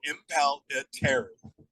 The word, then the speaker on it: Impellitteri: you to do something so impal and then yeah like you're about to say it so impal yeah and then like a girl's name Terry so Impala Terry that's how the name is pronounced for most people I don't know that